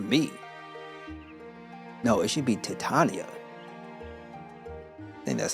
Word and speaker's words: Titania: Oh no, this letter is for you, Titiana. For me? No, it should be Titania. I think that's how you pronounce it.